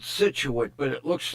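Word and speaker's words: Scituate: It's not pronounced the way it's spelled. She said they pronounce it situate, but it looks like shuait or something.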